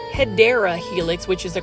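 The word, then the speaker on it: Hedera helix: Hedra helix. Now for those that are new to the channel, I mispronounced hideera helix which is the correct way to say it for English ivy.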